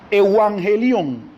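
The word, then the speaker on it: εὐαγγέλιον: hemos hablado de eso de una palabra griega pronuncia evangelion evangelio esa palabra en el griego viene de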